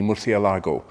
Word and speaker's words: Murciélago: So I'll stick to the Spanish pronunciation, because actually Murcielago is Spanish for bat. Yeah, go figure. But anyway, for me, this is a Lamborghini Murcielago, but it's all a